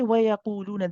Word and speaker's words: وَيَقُولُونَ: Now, when we say وَيَقُولُونَ, the qaf is heavy. Okay, make sure that you circle the lips for the dhamma, and then the lips stay circled while we pronounce قُولُوا. Qulu. If your lips start to change, it's going to change the oo sound and it's not going to sound right. Okay, so you must keep